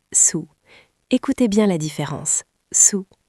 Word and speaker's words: sous: Sous S o u s. Sous sous. Attention Alex, la prononciation est importante. Le premier mot sûr comme tu le deuxième mot sous comme vous.